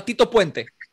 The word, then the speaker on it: Tito Puente: But Anthrax, of course, was was great with the Who's the famous uh Pia Pente Pente How do you pronounce his name? Percussionist? Uh Tito Puente.